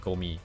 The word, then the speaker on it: Gomi: And I'll just tell them, oh, you're supposed to say it like trash, like Gomi.